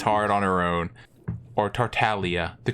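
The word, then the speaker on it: Tartaglia: ooh she hits hard on her own or tartalia the correct pronunciation he bops with the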